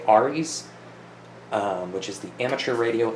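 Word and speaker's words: ARES: This is primarily for, I've heard it pronounced Rs, I say ARIS, which is the Amateur Radio Emergency Services.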